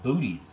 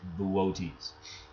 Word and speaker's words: Boötes: Okay, and then Arcturus is in the constellation Boötes, that funny word. I said, yeah, it looks like you spell booties out there.